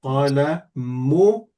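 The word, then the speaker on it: قلمكِ: Because if you say ki when it's ka and ka when it's ki, you're talking to the other gender.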